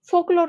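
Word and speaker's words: folklore: তো এখানে কিছুই না, জাস্ট ফোক বানানটা জানলেই হবে, এফ উচ্চারণ এফ ও কে, বাট বানানটা কিন্তু ফোক, এফ ও এল কে থাকে। এলটা একটু মার্ক করো।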